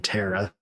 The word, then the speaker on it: Terra: I am still embarrassed after the Terra Shark interview that she was like, just so you know, you pronounce my name Tara.